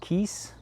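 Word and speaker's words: Kies: I think in English we just call it gravel, in German it's called Kiez, K-I-E-S.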